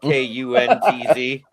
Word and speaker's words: Kuntz: Rusty Kuntz, and if you say it the way it's spelt, it's not good to say on the air. But anyway, Is it like a Roy Waugh thing? yeah, it's Kuntz. It's Kuntz in German, but you know what